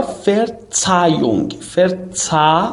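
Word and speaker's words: Verzeihung: معذرت میخوام، یا فرتسایونگ ببین ای رو داریم یا اون ای آی رو داریم آی میخونیم، فرتسایونگ ها هم که تلفظ نمیشه غالبا در بین یک کلمه، فقط زمانی که حرف اول باشه معمولا ها تلفظ میشه.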